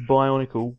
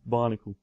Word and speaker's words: Bionicle: we're talking about yeah so Jeff pronounced his Bionicle barnicle Barnacle Barnacle did you